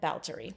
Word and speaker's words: Báthory: her as okay and that's what it is in english but in hungarian it's about baltery okay thank you for